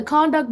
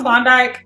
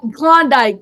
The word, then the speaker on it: Klondike: con what is it a conduct bar oh Klondike yeah that kondik thank you I don't